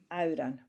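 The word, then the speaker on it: amhran: Excuse And me, then- Myra, did you spell that A-R-A-N? A-M-H-R-A-N. Thank you. Auran.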